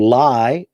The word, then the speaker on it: lie: And lay rhymes with place, or sounds similar to place. And so you lay an object down, you place an object. And you lie, sounds like recline. So you lie down. So you recline on something.